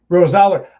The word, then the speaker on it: Rosaler: pronunciations. Thank you for asking me that. Rosaler.